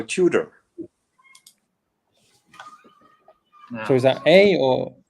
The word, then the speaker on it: Tudor: is a good question I think uh Hans will starve wanted to have it pronounced the English way so Tudor so is that a